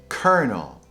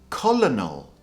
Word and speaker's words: colonel: Number 5 is kernel. Kernel. So I don't know if you're going to be very familiar with this word, but it's often mispronounced as colonel or colonel. People are probably getting it confused with the word colonial or colony. But the proper pronunciation is kernel.